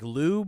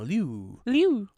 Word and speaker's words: Liu: I know how to say his first name, but the last name is like Liu, but like you have to have just a tiny bit of the I sound in Liu. Like in lieu of? Simu Liu.